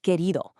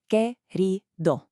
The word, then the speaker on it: querido: Let's break down this pronunciation together. Querido. You've got 3 distinct syllables there, with that beautiful, just slightly rolled R sound sitting right in the middle of the word.